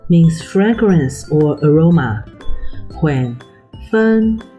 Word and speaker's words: 芬: Okay, without further ado, let's begin with 芬 and 芳.